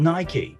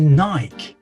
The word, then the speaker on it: Nike: Oh, is that how you call Nike? I'm sorry, but the correct way to say it is Nike. Why on earth would you call it Nike? Then how do you pronounce hike? Hikey? What about bike?